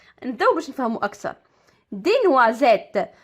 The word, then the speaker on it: noisette: دي نوازيت، نوازيت كما كتشوفوا اس جات ما بين دو فويال، جات ما بين اي و او وكنطق زد.